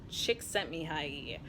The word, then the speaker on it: Csikszentmihalyi: flow first and foremost was through Mihai II csikszentmihalyi an author whose name I find myself in a flow state just pronouncing the whole mumbo jumbo of Mihai you